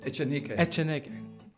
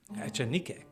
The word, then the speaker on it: Echanique: Echanique. Echanique.